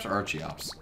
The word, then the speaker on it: Archeops: out of here archeops is it archeops archeops it's archeops cousins and Archaeopteryx I I've gotten better